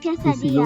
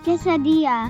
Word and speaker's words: quesadilla: Huh? It's quesadilla. It's a quesadilla. Quesillo Because because the teacher girl is in my school and she's from Mexico, Ooh. so I And know here- how to pronounce it.